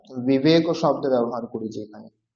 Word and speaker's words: বিবেক: ওয়া, বিবেক, বিবেক, বিবেক, বিবেক বললে কিন্তু হবে না, বিবেকও হয় না উচ্চারণ, উচ্চারণ হয় বিবেক, বিবেক।